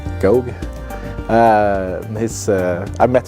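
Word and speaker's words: Gough: written by Julian go I think his name is pronounced go uh his uh I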